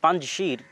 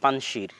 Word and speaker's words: পাঞ্জশির: আমরা পাঞ্জশিরের কথাটাও বলতে চেয়েছিলাম, যে পাঞ্জশির বা আমাদের বাংলায় লেখে পানশির, কিন্তু সঠিক উচ্চারণ হচ্ছে পাঞ্জশির, 5টা নদীর সমাহার।